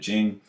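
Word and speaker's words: Ching: way jowls uh romanization but still pronounced Jing the scripture on the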